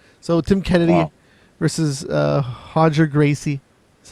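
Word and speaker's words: Roger: other some more so Tim Kennedy versus uh hoger Gracie is how you say his name uh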